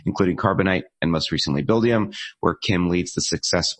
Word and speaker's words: Buildium: VP customer success and support is the company pronounced bill diem did I say that right yes you did